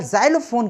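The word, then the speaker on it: xylophone: लेकिन एक आपने एक्स फॉर जाइलोफोन करके देखा होगा, तो जाइलोफोन, क्योंकि उसमें एक्स साइलेंट रहता है जो आपकी स्क्रीन पर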